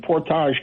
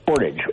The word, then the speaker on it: Portage: there's a sheriff in Portage County which is east of Akron? Portage County, yes. Portage. Okay, I'm sorry. I gave it the frog pronunciation.